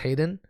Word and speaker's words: Hayden: It's kind of funny, but it's pronounced Hayden.